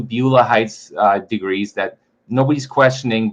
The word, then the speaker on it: Beulah: How do you say Beulah?